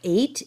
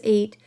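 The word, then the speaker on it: ætt: Now, the word 8 does sound like I'm saying the numerical word 8, E-I-G-H-T, but I'm not. So this is spelled A-E-T-T. And again, I might not be pronouncing it correctly, but it does in fact kind of sound like the number 8.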